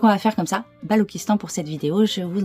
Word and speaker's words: Balochistan: Le sphinx du Balochistan, aussi appelé Grand Sphinx du Balochistan, se situe dans le parc Ingol, au Pakistan, dans la région de Makran.